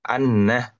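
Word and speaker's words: أنّ: makna yang kedua ya Kalau tadi dibacanya kasr Inna kalau sekarang dibacanya fathah Anna Nah ya sama dia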